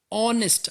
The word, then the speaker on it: honest: it okay next word honest men starting with the letter H which is not evolved but when I pronounce it honest I get this all sound right which is evolved or honest men H is silent when I pronounce it